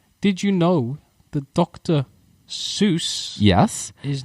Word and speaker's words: Seuss: He is called Dr. Seuss. Oh. It's pronounced like S-O-Y.